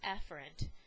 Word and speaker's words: efferent: within the CNS now a motor or eer which is really pronounced efferent uh motor neurons are